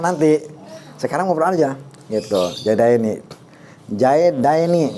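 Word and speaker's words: زيدين: Ini jaidaini dipatahkan sebelum ya, dikasrohkan sesudah iya. Ini jaidina dikasrohkan sebelum ya, dipatahkan sesudah iya gitu.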